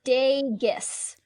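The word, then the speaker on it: Dageus: And to be fair, the descendants, Drustin and Dagius, I'm probably saying them both wrong. It's Dagius with a hard G. Dagius.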